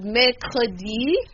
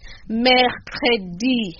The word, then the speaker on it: mercredi: We can go back to mercredi. Mercredi. M-E-R. We have the M-E-R. The E-R, which is pronounced as air.